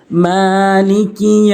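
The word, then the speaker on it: مَالِكِ: রহমানির রাহিম মালিকি ইয়াউমিদ্দিন মালিকি এখানে মিম খালা জবর মা এক আলিফ টেনে পড়তে হবে এবং লাম জের লি কাফ জেরে কি দুটি হরকত দ্রুত পড়তে হবে মালিকি ইয়াওমিদ্দিন ইয়াও জবর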